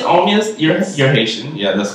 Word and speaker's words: Omeus: Omeus. Omeus, you're Haitian.